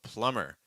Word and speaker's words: plumber: a great question um so plumber plumber just pronounce an M sound it's that same idea